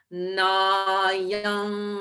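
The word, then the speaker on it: नायं: Nayam hanti nahanyate. So I made that nasal sound at the end of nayam rather than at the lips, at the throat, because that's where hanti begins.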